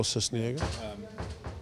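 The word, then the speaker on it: Sisniega: And the second half, the switch of the keeper, Cisniega, is that how you pronounce his name? Yes, Pablo Cisniega.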